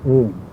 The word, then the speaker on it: Om: is to be pronounced most people accent first syllable and the last P off the mother pointed out that all the syllables should be clearly and fully articulated and especially the last M must be rounded up with amplitude and Clarity I tried it and